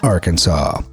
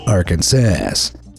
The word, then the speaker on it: Arkansas: state name, and that's Arkansas, not Arkansas or Arkansas. Those would be both considered illegal. According to the rule, the correct pronunciation of Arkansas, with the final S being silent, was made official by